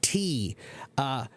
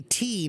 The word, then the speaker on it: tea: So for example, the word tea. We say tea now, T-E-A, right? But the earlier pronunciation, it was it's tea now. Before that, it was te. The pronunciation was te, and that's because they